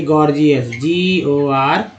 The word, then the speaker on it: gorgeous: अब देखिए गॉर्जियस, GORGEOUS, पहला जी जो है ग के रूप में, दूसरा जी जो है ज के रूप में इस्तेमाल हुआ है।